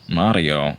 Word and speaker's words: Mario: name is Mario see Mario okay so what the rolling of the r makes the difference it's pronounced differently what do you want me